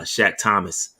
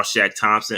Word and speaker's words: Shaq Thompson: the press conferences although he said his name wrong uh he called them shaq thomas uh davion nixon did